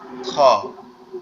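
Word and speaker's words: خ: খটা হচ্ছে আমাদের এই যে কণ্ঠনালীর শেষ, অর্থাৎ আমাদের এই গলার সাথে যে অংশটা লেগে আছে, এখান থেকে আওয়াজটা হবে, কিন্তু মনে হবে গালের ভিতর থেকে আসতেছে। খ খ খ।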